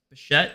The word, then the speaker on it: Bichette: Bichette, right? That's how you pronounce his name.